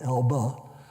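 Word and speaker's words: Elbe: right on the Elba River e lbe e pronounced Ela and we crossed there after they built a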